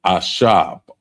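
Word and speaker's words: עשב: So we want to add, the first one is actually herb, and that's ashab. Ashab. And it's spelled Ishab.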